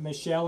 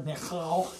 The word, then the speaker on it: Michal: honestly, I suppose he was interested in Michelle or Michael, or however you want to pronounce the name of Saul's daughter, Michal, if you want to pronounce it in the Hebrew.